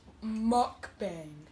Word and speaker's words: mukbang: us so tune in we say it's pronounced mukbang okay you good filling up